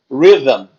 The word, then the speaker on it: rhythm: Essa palavra é boa de treinar a pronúncia, ó. É rhythm. Ela não tem nenhuma vogal, né? Ela tem um som vocálico aqui, ó. Que é esse Y. É um som de I, né? I. Rhythm.